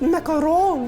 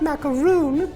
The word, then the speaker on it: macaron: video kind of sucks it's pronounced macaron not macaroon you silly that's not Samantha